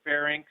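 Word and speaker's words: pharynx: uh emphasize that uh the Y comes before the N so it is fenal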